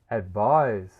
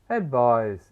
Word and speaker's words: advise: Advise. Let's review. Advise. It is used as a verb. It is never a noun. It rhymes with eyes with a z sound.